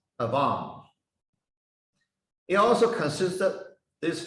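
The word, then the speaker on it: עוון: It pronounced Avam.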